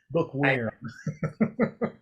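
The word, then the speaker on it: bookwyrm: And it's not spelled worm, W-O-R-M, just for shits and giggles. It's spelled worm, like a dragon, W-Y-R-M, bookworm.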